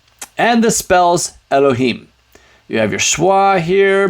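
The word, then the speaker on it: אֱלֹהִים: yo that's right Elohim now you notice this is a schwagatuff it's a half schwa uh so this is gonna be like uh the the uh sound with the uh so it's not a full vowels even though the dots are A's this is not an a this is a schwa the alif is silent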